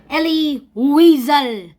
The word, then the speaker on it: Elie Wiesel: dark Sean presents Ellie weasel actually pronounced so I'll just be